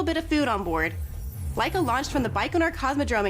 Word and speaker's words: Laika: The first to do a full orbit is, I believe, Laika is how it's pronounced. Laika, a dog in 1957.